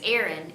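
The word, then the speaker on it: Aryn: daughter, who's my youngest daughter, her name is Erin, A-R-Y-N is how we spell it.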